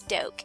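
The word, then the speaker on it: Doak: my name is Miss doke I put it up here a lot of people get confused on how to say it it's literally like an oak tree with a deep dope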